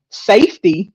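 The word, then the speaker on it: SFTY: Garrett's latest project, Safety, it's spelled S-F-T-Y, y'all. I had to ask him how to pronounce it, transcends boundaries, inspired by real struggles and aimed at fostering freedom and healing.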